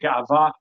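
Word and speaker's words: גאווה: So I say gaiva. I know in Ivrit you're supposed to say gava. I'm not so good at pronouncing Ivrit, so I just say gaiva.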